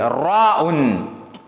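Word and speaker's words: ر: இந்த எழுத்து இருக்கிறது தமிழ்ல ரானா இருக்குது. ஆனால் கொஞ்சம் வல்லினமாக ரானா ரானா இருக்குது. அப்படியான ஒரு எழுத்து தான் இது. ரா உன்.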